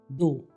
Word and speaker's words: though: THOUGH दो, THOUGH, और इसको प्रोनाउंस कैसे करेंगे? दो।